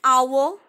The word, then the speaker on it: hour: yo you you okay indefinite article before a noun that begins with a silent edge i have also talked about these things yesterday also like an hour an honest man and eo an honor